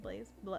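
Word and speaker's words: Blais: don't follow blaze is that how you say it blaze blaze it's b-l-a-i-s their work is absolutely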